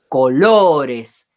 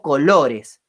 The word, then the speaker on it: colores: sílaba tónica es lo fíjense que yo digo colores no digo ni colores ni colores digo colores y eso nos marca que la sílaba tónica es lo y por lo tanto